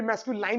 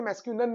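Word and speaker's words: masculine: Actually उसको भी मैस्कुलाइन नहीं बोलते। मैस्कुलिन बोलते हैं।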